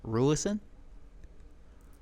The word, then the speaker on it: Rulison: Rulison. How the fuck do you spell that? Let me hit it. Google. Rulicent? Rulison. Rulicin. Rulison. Sounds like roll to send. Rule to sin.